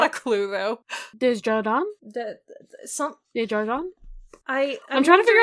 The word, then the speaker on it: Desjardins: It's a zh, not a j. That's what I'm imagining now. You find a pronunciation guide, Bessie? Desjardins. That's it. Okay.